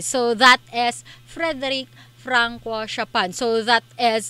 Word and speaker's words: Chopin: So just to clear with a surname, it is pronounced as Chopin.